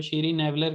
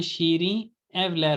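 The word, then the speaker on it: Şirinevler: लेकिन लोग ज्यादातर उनको नहीं ना वो टर्किश आती होती, तो उस लिहाज से जो मतलब सुना सुनाया अपने लिहाज से प्रोनाउंस करते हैं तो शीरी नेवलर करके बोलते हैं, असल में शीरी एवलर होना चाहिए।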